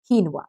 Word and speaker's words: quinoa: So now, whenever you go to the restaurant, you can perfectly say, hey, can I have a quinoa salad, please? Okay, so the pronunciation of this is quinoa.